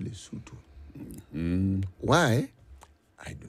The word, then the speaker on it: Lesotho: It's written Lesotho, but pronounced Lesotho.